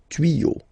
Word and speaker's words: tuyaux: Des tuyaux. Same rule, you don't pronounce it. Des tuyaux, okay?